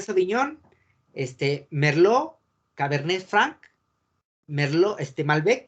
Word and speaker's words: Merlot: este merlot cabernet franc merlo este mal ve y petit verdot si otra vez cabernet sauvignon cabernet franc merlo 100 merlot que no se pronuncia malbec y a veces